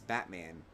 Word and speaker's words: Batman: guy came in, and his last name was Batman, but he pronounced it Botman. And I wanted to punch him in the face every time, because I was like, that's not your name, dude. It's not Botman. It's Batman. Just embrace it.